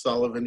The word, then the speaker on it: Suilebhan: It's like Gideon with a W, and the last name is pronounced Sullivan, even though, as you'll see later, it's spelled kind of different. It's the Irish spelling.